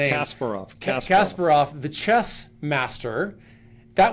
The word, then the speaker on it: Kasparov: If you remember back in the day when IBM Watson beat is it is it Gasparov? I'm mispronouncing his name. Kasparov.